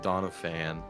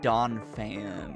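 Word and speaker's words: Donphan: stupid it's D it's it's uh it's Don fan there's no a you like to put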